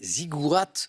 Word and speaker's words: ziggourats: Ziggourats, avec un T qui se prononce, Nicole, bravo.